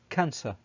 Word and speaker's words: cancer: example in the word cancer so the word cancer has two c letters one is pronounced as ka as can and then the other one one is pronounced as cancer okay so when the